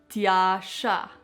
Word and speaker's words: Tjaša: full name and you might have some problems pronouncing it so let's do it together Tasha my last name is just simply